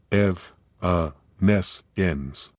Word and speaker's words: evanescence: Evaness ends.